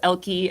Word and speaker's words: Elkei: yes but if you if you look up elky and that's spelled e-l-k-e-i elky education then you'll definitely be able to get